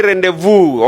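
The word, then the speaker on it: rendezvous: The G is silent. Next we say rendevu.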